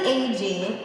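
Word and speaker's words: Agee: an actual gay couple it's actually AG which most people don't know how to pronounce it's Steve Ag and they are not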